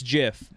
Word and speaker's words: Jif: okay all right uh it's jiff you all lost jeff yeah which is spelled